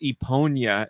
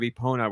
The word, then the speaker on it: Epona: Burn and Chief says their friend legit says Eponia instead of Epona, which is what I say as a joke.